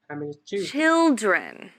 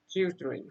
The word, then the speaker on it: children: her pronunciation of children she forgot the sound at the middle to correct it we say children children chilled Ren children children